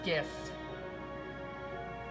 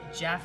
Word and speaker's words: GIF: is this it's pronounced gift you know those animations you see online those gifts it's pronounced gif gif stands for graphics interchange format you don't say Jeff it's interchange format they're